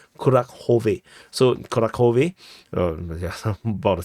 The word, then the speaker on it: Kurakhove: the retreat route from Kurakove. Some people, I saw a comment, they said that this is not pronounced as Kurakove, it's pronounced as Kurakhove.